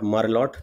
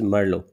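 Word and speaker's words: Merlot: a black gray variety so it is not marlot the pronunciation is Merlo Marlo is a great variety ripe faster it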